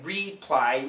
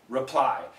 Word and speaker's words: reply: no it means answer so we don't say reply you can just say reply here reshapes does it